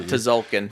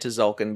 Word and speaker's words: Tzolk'in: I'm talking about Tzolk'in. flabs, my flabs. Talking about Tzolk'in. Oh, yeah. The T is silent.